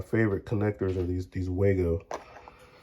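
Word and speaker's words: Wago: connectors are these these Wego I believe they pronounce it Vaga but I said Waco because I'm American and we normally butcher foreign names of things and these connectors are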